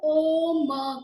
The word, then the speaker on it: ओम: सांस लेते हुए और धीरे धीरे छोड़ते हुए, अभी आप एक उच्चारण करेंगे अ ओ म का। अ आप छोटा करेंगे, ओ बड़ा होगा और म उससे छोटा।